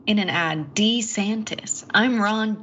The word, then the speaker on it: DeSantis: fast we'll have to see and Ron DeSantis pronounced his own name in an ad d santis I'm Ron D santis he did yeah are